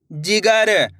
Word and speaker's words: जिगर: तो मिलके बन जाएगा जिगर। कैसे पढ़ेंगे? जिगर। इस तरीके से ज्यादा खींच के नहीं पढ़ना, जिगर। कैसे पढ़ेंगे? जिगर। यानी कि तेजी के साथ इसका उच्चारण करेंगे।